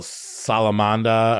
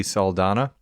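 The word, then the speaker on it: Saldana: So, Salamanda or how do you say her last name? Zoe Salana.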